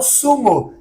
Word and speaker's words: zumo: Outra palavra com Z que eu vi ali agora no material é o sumo, que é o suco. Então tá escrito zumo, né? Mas nós lemos sumo, sumo, ok?